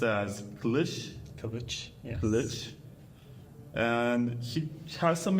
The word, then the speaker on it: Kilic: to oron kich you told me that it's pronounced as Kish kich kich and he has some exciting news about